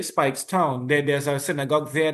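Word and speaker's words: Speightstown: If I I hope I am pronouncing this correctly, but Spigots Town, Spikes. Spikes. Okay. Spikes Town.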